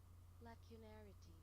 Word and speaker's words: lacunarity: Pronunciation. Hold on, let me pause this music real quick. Lacunarity.